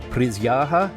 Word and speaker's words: присяга: It's pronounced prисяга, and it means oath.